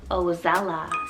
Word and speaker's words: Ozella: little bit more modern i have the name ozella spell o-z-e-l-l-a now this one was used also